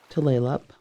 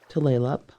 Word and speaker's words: Tulalip: Tulalip, Tulalip. The name is mispronounced by so many people, but Tulalip is nearest to the right pronunciation for the Snohomish Indian word Duflalop, which means the long bay.